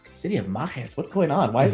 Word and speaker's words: Mages: a made-up word but it's essentially it's pronouncing the word mage you know you know with uh i guess latin flavor so i'm ready for